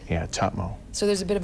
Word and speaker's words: Tahmoh: it's my grandmother used to say it it's TMO but it's become do that again TMO cuz it's t a m o h right yeah TMO so there's a bit of a break M